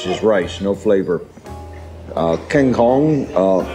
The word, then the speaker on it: kangkong: Apparently, I've been saying it wrong. It's Kangkong.